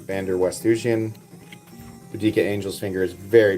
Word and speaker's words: Van der Westhuizen: You guys can check out Anton van der West. I always mispronounce his name. Van der Westhuizen.